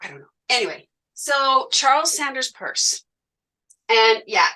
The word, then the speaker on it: Peirce: Anyway, so Charles Sanders Peirce, and yeah, it's not Pierce, it's pronounced Peirce, even though it's kind of a funny spelling of Pierce.